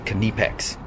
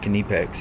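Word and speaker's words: Knipex: nipix german it's kindepex if you're speaking to a german person you better call that kinnipex that's all i gotta say they don't they're don't they're not very happy when you mispronounce a very proudful company it's called kunipex we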